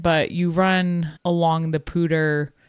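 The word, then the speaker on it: Poudre: run along the Pter I learned how to say the morning of the race pter river. I can't with Colorado. They say everything wrong. That is not how it's spelled. That is a New Jersey and you saying that Danielle Pter that is one weird and two it's spelled P O U D R E. So please someone explain to me how that comes out to pter.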